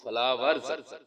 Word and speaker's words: flowers: ई यहाँ पे जबर की आवाज देगा, आर रे की आवाज देगा, एस आखिर में है तो ये जे की आवाज देता है।